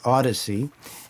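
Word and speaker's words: Audeze: to my collection the they're pronounced Odyssey and they're spelled a UD d e and the model that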